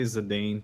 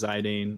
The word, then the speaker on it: Zidane: bunch of different ways I say zadane TQ says zidane I'll say zidane sometimes uh a lot of people say sedan like the footballer um you know it's